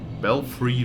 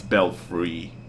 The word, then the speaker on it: belfry: Belfry Luna. I know for a fact that I said Belfry in the first game, but I checked ever since how to pronounce the word, and it's Belfry.